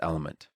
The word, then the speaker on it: LMNT: Spelled LMNT, but pronounced Element.